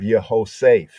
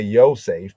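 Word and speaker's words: יוסף: Here we have Yehoseph, Yehoseph. Often we say Yosef because that's how it's usually spelled.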